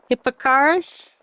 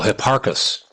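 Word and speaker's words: Hipparchus: Hippocarus around 125 BC. Hi P A R C H U S. Oh, Hipparus.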